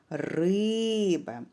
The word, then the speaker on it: риба: наголошений необхідно слово погукати наприклад риба скільки складів два і наголошений буде перший склад риба наголос позначається похилою рисочкою